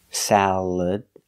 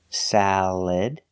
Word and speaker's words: salad: Example, salad. Again, the second syllable is not stressed. So you have three choices. You can use the schwa, salad, sound, salad. You can use the e sound, like eggs, salad, salad. Or the I sound, like milk, and this, salad, salad. Just make sure you put the stress on the first syllable.